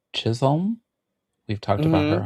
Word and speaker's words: Chisholm: Chisholm.